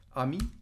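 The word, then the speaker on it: amie: مزیده سلو مزمی مزمی آمی آمی آمی اگر اینجوری باشه یعنی دوست پسر اگر مثلا من میگم دوستمه یعنی اگه پسر باشه اینجوری مینویسم اگه دختر باشه اینجوری مینویسم ولی تلفظش فرقی نمیکنه امی امی اگر جمع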